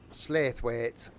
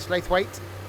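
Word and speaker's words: Slaithwaite: slate weight 2.6 miles it's not pronounced how you think I don't care we should just speak proper up there shouldn't they the queen's English don't you know slow it well that's just wrong we need to write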